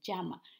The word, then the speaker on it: llama: doble l o ella verdad en la palabra llama así se pronuncia llama este animalito vive en suramérica el murciélago el